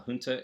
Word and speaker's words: junta: So what they say is, and it's pronounced junta, not junta, despite the fact that my favorite band's first album was named Junta and pronounced that way solely to mess with people's heads.